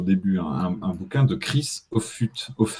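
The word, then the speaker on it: Offutt: un bouquin de Chris auut ça se prononce à l'anglaise au f ouais of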